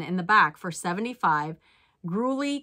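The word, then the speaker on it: Gurley: the back for 75 grully candles are a bolo I think I'm saying that right it's g-u-r-l-e-y think that's how you pronounce it and here is the skeleton that sold for 75.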